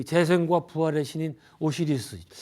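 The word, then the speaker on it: Osiris: 이 사람은 이제 이 심장은 그 재생과 부활의 신인 오시리스, 미국 애들은 오사이리스라고 또 발음하더라고요.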